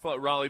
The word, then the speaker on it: Raleigh: couple of weekends in Raleigh Durham and not know that not hear the name of the town. It's crazy that it's not Ria.